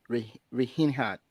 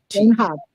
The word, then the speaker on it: Reinhart: Am I maybe I might, mispronounce the name, but Anna Rehinhat. Is that a German? Yes. Reinhart. Reinhard. Oh, Reinhard. yeah, Anna Reinhart, and Yes.